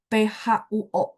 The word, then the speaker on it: 破: Oke, 水果何必客气破费破 baca P itu kan PH teman-teman. Tapi begitu P ketemu O itu harus ada UO. Jadi bacanya PHUO bacanya. Tapi tulisnya tetap PO ya.